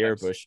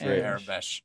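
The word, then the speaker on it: Aurebesh: And like you can't always trust the Airbush, or however it's pronounced. Airbesh.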